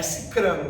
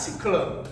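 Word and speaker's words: sicrano: Não vou dizer que o fulano ou cicrano com r mesmo, que pronuncia com L, pronunciar é cicrano. Não existe nada de ciclano revolucionei assim tão massa assim.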